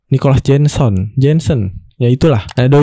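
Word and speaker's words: Nicolas Jenson: Bacanya Nicholas Jenson.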